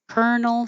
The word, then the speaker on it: colonel: Colonel Sanders is the only colonel I know. Carnal. So the vowel is different here. 35, cur, like her, colonel, and 36, car, like car, carnal.